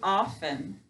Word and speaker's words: often: We say often. Do we hear this letter? This letter's silent.